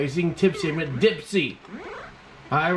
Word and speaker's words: Dipsy: no I I realize I've been saying the name wrong are you seeing tips in with Dipsy all right with the color scheme of this